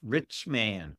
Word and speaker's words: Richman: It's Richman, Richman. Everybody thinks it's like Virginia. Nope. It's like, hey, what can we be when we grow up? I want to be a rich man.